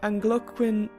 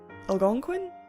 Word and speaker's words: Algonquin: a Wendigo a creature from Anglo Qin damn it algonquin algonquin algonquin gosh darn it I looked up a pronunciation and then I got it wrong and I just Algonquian